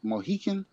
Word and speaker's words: Mohican: Mohican? How you say that? Eagle? You're saying it right.